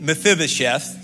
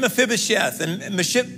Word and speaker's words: Mephibosheth: blessing and one more story a guy named mephibosheth say mephibosheth all right one day the bible